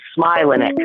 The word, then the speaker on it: Smilanick: Smilanick, a.k.a. of the Pirates, Charles. Let me help some pronunciations. Yes. So the last name, my natural last name is Smilanick, like a smile.